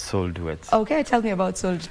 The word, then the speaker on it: Soul Duets: you've written it so it's either sold Duets or Soul D Duets no it's soul duet okay tell me about